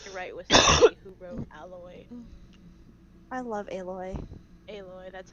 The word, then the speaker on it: Aloy: the name yeah no it's um aloy supposed to be like alloy like iron alloy or that's sort of like the reasoning behind her name but they pronounce it aloy ah because oh that's